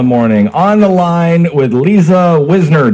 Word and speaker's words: Liza Wisner: On the line with LizaWisner. Did I say it correctly? Oh, yes, you said it correctly.